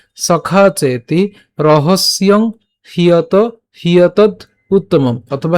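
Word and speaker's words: হ্যেতদুত্তমম্: সো উচ্চারণটা কেমন হচ্ছে? ভক্ত ওসি মে সখা চেতি রহস্যং হিয়ত হিয়তদ উত্তমম, অথবা হিয়েত দুত্তমম।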